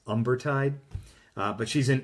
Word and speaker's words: Umbertide: She actually was back in a place called Umbertide, proper pronunciation, but it looks like it's Umbertide. But she's in Umbertide again.